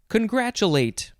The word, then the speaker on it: congratulate: from china next is congratulate congratulations you could say cha or ja in the middle either way is fine it is a verb